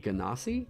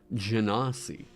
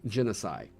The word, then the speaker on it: Genasi: So I know that some people pronounce it Ganassi, or like, that's apparently the official pronunciation, right? Let's go check with Matt Mercer. If he did a... Genasi. Okay. So I've been saying genocide.